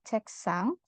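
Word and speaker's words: 책상: pertama ada cekang cekang s-nya dibaca tebal ya cekang kenapa Karena di sini ada ketemu sama siot dibacanya sang siot cek sang kemudian ada Wi tuija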